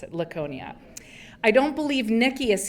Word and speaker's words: Laconia: I think that's how you pronounce it. Laconia.